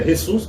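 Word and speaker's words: Jesús: a mesma Jesus na na Espanha nos países hispânico é ressus que nem nós vimos aqui e no português acabou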